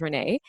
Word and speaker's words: Renee: someone named Renee here so my name is spelled the same way Renee yay it's just mine is pronounced rainy and I'm guessing yours is Renee empathy is one of